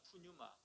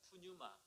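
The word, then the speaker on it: πνεῦμα: 힘들어요 그죠 헬로를 보면이 성경은 푸뉴 아입니다 프뉴마 따라해 볼까요 프뉴마 영어로는 영을 영어로 뭐라고해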